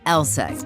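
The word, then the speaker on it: LSEG: be a bit misleading take ours for instance pronounced elek AKA London Stock Exchange group sure we're in London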